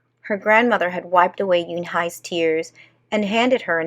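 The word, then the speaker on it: Unhei: "Uni?" the girl asked, scrunching up her face. Ooh, hey," some kids chanted. No, Yoon-hai corrected. "It's spelled U-N-H-E-I. It's pronounced Yoon-hai."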